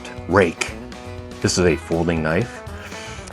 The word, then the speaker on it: Ruike: That is pronounced Rake.